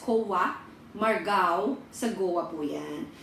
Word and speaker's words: Colva: Malapit po siya sa Cova or Colva, pero ang pronunciation nila is Cova, Margao, sa Goa po yan.